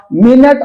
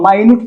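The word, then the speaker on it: minute: जिस प्रकार मिनट और माइन्यूट पढ़ते हैं। मिनट का मतलब समय हो गया और माइन्यूट सूक्ष्म हो गया। स्पेलिंग सेम है।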